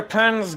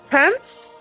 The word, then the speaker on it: Pans: Pants? Pans. As in pants. As in the Pans. clothing. Oh, you're saying it wrong. Pans. Pans. As in cook things. Cook things. Pants. Yes, pots and pans.